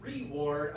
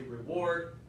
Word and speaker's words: reward: You said reward. I usually say reward. Very small difference.